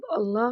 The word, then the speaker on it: اللّٰہ: کوئی نقطہ نہیں ہے۔ اب اللہ کا تلفظ کریں اور سمجھیں کہ آپ اسے کیسے ادا کرتے ہیں۔ آپ اس کے حروف کو اپنے حلق کے پچھلے حصے سے ادا کرتے ہیں بغیر ہونٹوں کو حرکت دیے۔ اس کا مطلب ہے